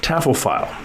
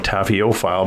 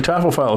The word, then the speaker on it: taphophile: if you know tuille she is a taffo file or sometimes I call a Taff file but that's not really how you say it but a tofile is somebody who likes